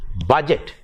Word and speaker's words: budget: u d g t budget b u d g e t budget uh we wrongly pronounce it as budget the is there but yet actually in english that d is silent it is budget and